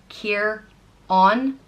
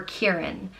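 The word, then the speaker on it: Ciarán: The next name is Kieran, and it means little dark one, and it's pronounced Kieran or Kieran. And I think that depends on whether or not you use a fada over the A.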